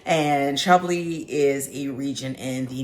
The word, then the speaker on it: Chablis: looks like it's pronounced shabas but it is in fact shabi because it is French and shabi is a region in